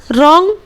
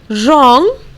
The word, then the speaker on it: wrong: Okay, उसी तरह रॉन्ग, यहाँ पर भी W का प्रोनाउंसिएशन हम लोग नहीं करेंगे।